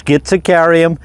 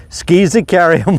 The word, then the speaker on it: Schizachyrium: the little blue stems botanically pronounced as schizicarium skizicarium or skiesicarium I've heard various ways to pronounce the botanical name over the years so I just take